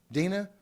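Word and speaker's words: Dinah: Is it Dana or Delilah? What's her name? How do you pronounce it? Dina.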